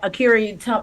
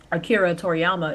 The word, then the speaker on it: Akira Toriyama: series God damn it that akiri Akira Toriyama I'm not trying to mispronounce his name I actually know how to say his name Akira Toriyama is actually doing called